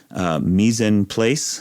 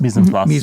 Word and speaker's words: mise en place: a cooking thing that I'm going to horribly mispronounce because it's French. Mise en place. Mise en place. Mise en place.